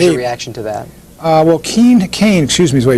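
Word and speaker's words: Kean: Well, Kane, excuse me is the way you pronounce it, has apparently good support among those blue-collar people.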